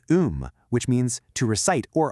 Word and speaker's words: 음: And the last character im is um which means to recite or a poem.